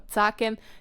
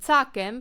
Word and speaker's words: tsakem: Note that the tsakem or tsakem doesn't have an underline. That is because you can stress this word on either syllable. So I can say tsakem, but I can also say tsakem.